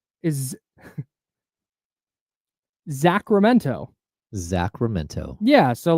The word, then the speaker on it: Sacramento: It's just Sacramento. No, that's true. And the way she speaks is proper, so she wants to pronounce the T. Oh. And she had to train herself to not say the T.